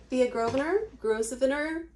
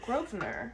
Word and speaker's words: Gouverneur: It's Thea Gouverneur. Gouverneur? Yeah. It's got an S in it. There's no R after the G or the Gouverneur?